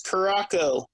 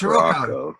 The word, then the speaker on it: Caraco: Yeah, the way you pronounce that paint is Caraco. It's Caraco.